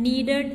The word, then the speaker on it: needed: Appointed, needed, muttered, revealed. The ed in appointed and needed is pronounced id.